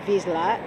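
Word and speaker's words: Wisła: i'm about to cross what is spelled in polish w-i-s-l-a and i know they say it vizsla and it americans recognize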